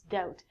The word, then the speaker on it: doubt: it looks like doublet it's not the it's doubt when you doubt something it means you do